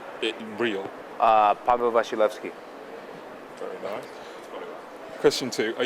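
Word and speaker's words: Paweł Wasilewski: your real full name on camera can I pronounce my real full name on camera uh my real full name it real uh Pavo vilki very nice question two are you married no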